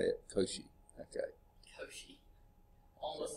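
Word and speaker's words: Cauchy: do you pronounce it I think it's Koshi Schwarz that sounds better than couch it's um I'm pretty sure he's French Augustin Louie kosi uh yeah French mathematician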